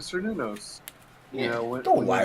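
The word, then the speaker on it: Cernunnos: No, it is Sir Nunos.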